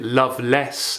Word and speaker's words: Lovelace: If we look to the name of Robert Lovelace, Lovelace. Some contemporary readers would have pronounced it loveless, as in lacking love, loveless, which is an allusion to Colley Cibber's libertine figure in Love's Last Shift in 1696.